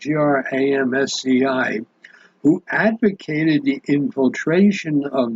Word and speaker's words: Gramsci: I think that's how you pronounce it, Gramsci, who advocated the infiltration of the civil society to destroy it from within.